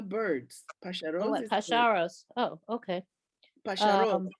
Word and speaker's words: pájaros: Pájaros, actually. Emphasis on the last syllable.